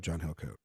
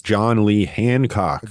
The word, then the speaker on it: John Lee Hancock: this up for me look up John hilat um maybe if I'm wrong I got saying his name wrong no you are it's John Lee Hancock John Lee Han I'm